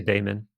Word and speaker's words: daimon: Some people say daemon, but I think daimon is probably the closest to the Greek.